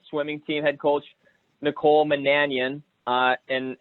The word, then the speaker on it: Monanian: team head coach Nicole Manan Ian and the way you pronounce that is like companion right is that the the